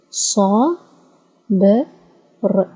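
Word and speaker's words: صبر: So sa, b, r, sabr, sabr, sabr, sabr.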